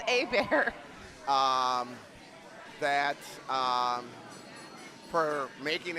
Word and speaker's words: Abear: Uh shout out to team uh Abear or Herbert, whichever pronunciation, I forget which one it is. It's Abear.